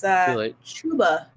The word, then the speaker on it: Chuba: It's Chuba.